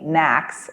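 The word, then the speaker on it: NACS: association of convenience stores conveniently knacks rhymes with snacks that you buy convenience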